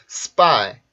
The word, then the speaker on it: spy: 그래서 발음을 해보면 spy, spy, spy, spy, spy, spy 이런 식으로 P 발음이 S의 영향을 받아서 이렇게 된소리로 변하는데 이거는요.